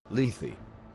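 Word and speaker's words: Lethe: Leafy.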